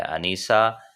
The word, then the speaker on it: انیسہ: آج کے نیم جس کے معنی ہم آپ کو بتائیں گے وہ ہے انیسہ. سپیلنگ ہے ANISA، انیسہ.